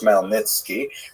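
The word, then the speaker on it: Khmelnytsky: It's actually pronounced Melnitki with a guttural at the beginning.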